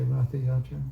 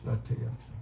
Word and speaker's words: Ratha Yatra: You know, Americans say Ratha Yatra, but it's, you know it's Ratha Yatra, right?